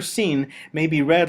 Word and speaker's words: sin: For our purposes, the letter Sin may be read like the letter S in English, or like the Hebrew letter Samekh, though originally Sin would have been pronounced like a lateral lisp.